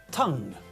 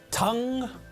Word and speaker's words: tongue: Tongue, tongue. Listen again. Tongue, tongue, tongue.